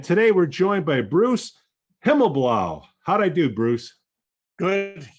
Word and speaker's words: Himmelblau: And today we're joined by Bruce Himmelblau. How'd I do, Bruce? Good. You did better than I pronounced my own name.